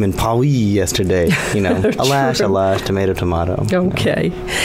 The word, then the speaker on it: Alash: um uh I'm wondering am I pronouncing the name right alash or alash either one is fine you know alash sounds closer to the tubin but I you know I say Al lash in English okay you know even